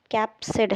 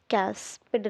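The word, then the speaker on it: capsid: कैप्सिड है बेटा, कैप्सिड, here it is also right, कैस्पिड नहीं है, कैप्सिड है, ओके।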